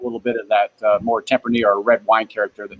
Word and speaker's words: Tempranillo: Tempranillo. Tempranillo.